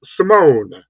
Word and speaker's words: Simone: Anthony, how do you pronounce Simone? Simone.